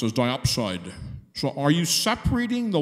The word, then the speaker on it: diopside: underneath you had something called a let's say pronounced as diopside so are you separating the last tonight from